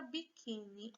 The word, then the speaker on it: biquíni: Se a palavra biquíni, ela já veio acentuada, eu já coloquei aqui na ordem, para vocês verem. Já está acentuada. A sílaba mais forte é a penúltima.